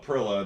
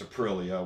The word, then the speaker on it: Aprilia: And I guess one of the big ones is it's Aprilia and not Aprilia. It doesn't, Aprilia, it's not Aprilia that rhymes with gorilla. It's Aprilia, which I now understand.